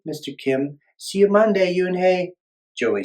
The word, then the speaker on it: Unhei: "Yes, it's pronounced Yoonhei."